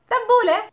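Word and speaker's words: تبولة: This is why we pronounce it as an A, tabbouleh. The next letter for today is the waw, the w letter.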